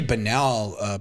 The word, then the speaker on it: banal: I'm a pretty banal person. Can't whistle. It's banal. Wait, what? Banal. Yeah, that's how you pronounce it.